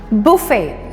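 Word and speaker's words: buffet: या बुफे, सो यस the spelling is बफेट बट इसको हम बुफे बोलते हैं। इट्स अ फ्रेंच वर्ड, इसको प्रोनाउंस बुफे किया जाता है।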